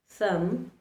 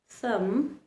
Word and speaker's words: thumb: Remember, letter B likes to remain silent when it is following the letter M.